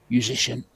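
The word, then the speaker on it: Juszczyszyn: One of the first names I learned how to pronounce actually told me to just rhyme it with musician and you'll be okay. Just put the U in front. Conrad musician.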